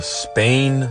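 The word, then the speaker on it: SPANE: love the study is called the Spain scale of emotion research project and that's spelled s p a n e in this research project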